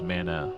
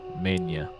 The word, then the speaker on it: mana: Magic the Gathering with a guy who pronounced Mana Mania and I think he